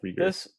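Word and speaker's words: Reagor: How do you pronounce his last name? Rigor Rigor. Jalen Rigor. or Rigor. Okay, Rigor.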